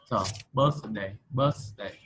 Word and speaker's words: birthday: Birthday. Cái âm thở thì em đọc là đẩy lưỡi ra ngoài.